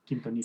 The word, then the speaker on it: Quintonil: Quintonil. Sometimes pronunciation isn't my strongest point, and I'm like, you did it I think I got perfect.